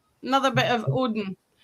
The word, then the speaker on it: Odin: It's another another bit of Odin. I think it was actually pronounced Oudin as well, actually.